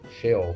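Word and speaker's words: שְׁאוֹל: Como se pronuncia isso aqui? Cheol se pronuncia assim, tá vendo aqui?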